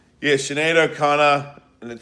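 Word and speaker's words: Sinéad O'Connor: Yeah, Shenado Connor.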